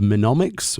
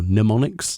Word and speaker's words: mnemonics: This includes the normal mode of the Arcadian, as well as new Allegan tombstones of mnemonics or mnemonics, depending if you want to pronounce the M or not, and new craftable gear as well.